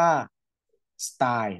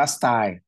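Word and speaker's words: style: จะ เรียก ว่า สตล สตล ออก เสียง ว่า สไตล นะ ครับ โอเค นะ ออก เสียง ว่า สไตล อ่า รัง ไข่ เรา จะ เรียก ว่า วาร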